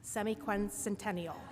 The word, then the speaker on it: semiquincentennial: Unfortunately, that means we're running out of time in terms of how we all pronounce semi-quincentennial. So, say it say it with me now.